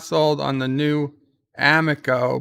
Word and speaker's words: Amico: sold on the new amico pronounced m eco for bird and those